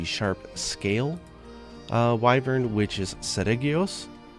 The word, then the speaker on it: Seregios: scale wyvern, which is Seregios. In Japanese it's Seruregios and the genus name is Regios, so it made sense in English to say Regios instead of Seregios.